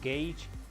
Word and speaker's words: gauge: enemies your metagosh gauge i think it's pronounced gage in the bottom left of